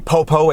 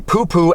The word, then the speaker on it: popo: And for those of you who may not know, that is in fact pronounced the popo and not the poo-poo, and according to the Urban Dictionary, it means the cops, the police.